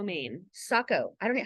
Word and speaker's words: Saco: now you live in Saco Maine Saco I don't know how do you spell that s-a-c-o as well it's kind of like Waco Texas right yes so just